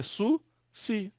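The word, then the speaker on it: סוס: Outro Sami com Hirik e Yod é Su, Si.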